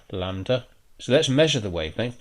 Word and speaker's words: lambda: trough, and that is given the Greek symbol lambda, pronounced like that, lambda.